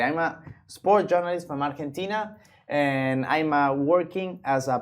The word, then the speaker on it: Argentina: But it's actually Argentina. Argentina, yes. You pronounce it in Spanish, you pronounce Argentina, in English, Argentina.